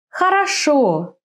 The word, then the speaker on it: Хорошо: In some three-syllable words, the accent falls on the last syllable. Хорошо.